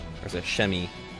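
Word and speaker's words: Przemyśl: on the fortress of Shim. Or is it Shemi? It looks like Shemishil, but you don't pronounce the L.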